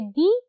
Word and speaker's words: the: ठीक है, अगर द एक वावल से पहले लगे तो वो प्रोनाउंस होता है डी, अदरवाइज कॉन्सोनेंट से पहले वो प्रोनाउंस होता है द.